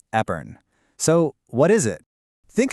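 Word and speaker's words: épergne: And yep, for the record, it's pronounced Epern.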